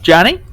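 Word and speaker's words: Jony: important jonathan but i go by johnny it's spelled j-o-n-y but look don't talk about it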